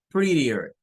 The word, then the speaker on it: prettier: Prettier. Normalmente los norteamericanos estas T's no las pronuncian, sino que la hacen como una especie de R. Prettier, reader, prettier. Algunos la hacen como una D.